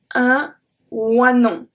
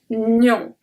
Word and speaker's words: oignon: Nion. Un oignon. If anything, just think about the word onion that you have in English and pronounce it with the French letter.